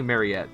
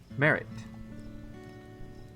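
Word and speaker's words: Maritte: My name is I want to say Mariette, but I know that's not how it's pronounced. Merit.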